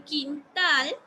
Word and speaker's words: quintal: Entonces, yo puedo notar que cuando lo pronuncio cohete, la que estoy pronunciando más fuerte es E. En quintal sería una situación similar.